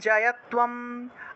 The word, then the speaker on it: জয়ত্বম: তয়ের নিচে বফলা থাকলে তুয় রূপে উচ্চারণ হয়, তাহলে তুয়াম উচ্চারণ হবে, অনুস্বার থাকায় ম উচ্চারণ।